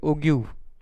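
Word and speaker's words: ogive: इसको क्या बोलते हैं, ओग्यू, ठीक है ना। Commonly it is pronounce eight ओग्यू, आप लोगों ने उसको ओजीव भी बोला तो मुझे कोई दिक्कत नहीं, सिर्फ सामने वाले को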